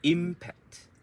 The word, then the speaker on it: impact: So you can say impact. So the im is longer. Impact. The im is longer, and it is stressed and it's longer.